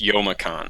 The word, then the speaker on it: Youmacon: Oh, and by the way, apparently we've been pronouncing it wrong. It's Youmacon.